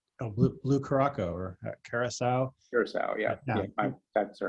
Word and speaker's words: Curaçao: Curacao, yeah.